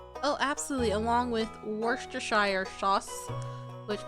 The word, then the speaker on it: Worcestershire: oh absolutely along with Worcestershire sauce which based on the town it was invented is pronounced Worcester Shire hey did it right